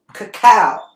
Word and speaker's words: cacao: up this little bit of cocoa powder okay cacao that's how you say it cacao powder cacao